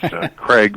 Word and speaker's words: Kreig: the break, I said, my name's actually pronounced Kreig, but I said, if you want to be consistent, I don't want to embarrass you. If you want to keep saying Krieg, that's fine with me.